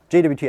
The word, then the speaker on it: JWT: just see what uh JWT actually looks like and I'm sure someone's going to call me out and say it's pronounced jot according to the RFC so I'm just going